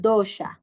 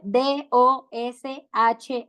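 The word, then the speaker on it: dosha: bata Pita y cafa en sánscrito se llaman dosh sí Cómo se escribe d o s h a dosh ya dosh Entonces tenemos estos tres dosas y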